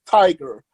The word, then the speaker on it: tygr: It's actually pronounced tiger, but it's spelled differently.